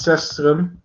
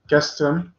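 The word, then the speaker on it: Cestrum: It's Sestrum. Kestrum is actually. I should pronounce it in the Latin way. It's Kestrum, not Sestrum.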